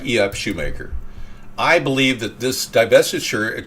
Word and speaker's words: Schumacher: E.F. Schumacher, or Macher, however you want to pronounce the CH, depending on which part of Germany you're from.